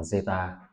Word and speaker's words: zeta: một biến ngẫu nhiên, cái này đọc là zeta.